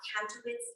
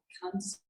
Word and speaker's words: Kantzow: The American-Scandinavian Society's Kantow's Art Award. Kantzow Art Award, almost.